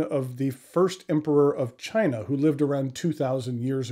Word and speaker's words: Qin: the first emperor of China who lived around 2,000 years ago and it is called the Chin Dynasty now chin is spelled q i n there are a variety